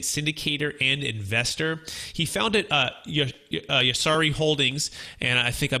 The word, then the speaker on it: Yarusi: Switched the R and the S around, so it's Yarusi.